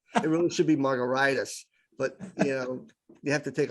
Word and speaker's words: Margaritis: It's pronounced like a cocktail, but if you look closely, it's spelled like an inflammation. It really should be Margaritis, but you have to take a pill or something.